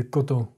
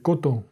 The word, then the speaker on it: coton: It's not coton. It's coton. It's very closed. De coton.